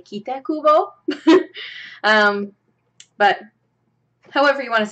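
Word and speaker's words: Tite Kubo: asked, they would say also this guy or Kite Kubo. But because I know a little bit of Japanese, I say Kita Kubo.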